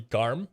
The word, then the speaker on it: Garm: one gum so the the norse mythology version is actually garm gay r g a rm but it's spelled a gum in the uh s combat zero games ah i think it